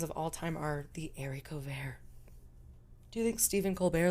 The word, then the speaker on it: haricot vert: It looks like they're spelled haricot verts, but it's pronounced haricot vert.